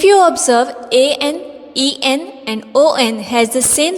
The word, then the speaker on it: ans: S will be silent. We will not pronounce S here.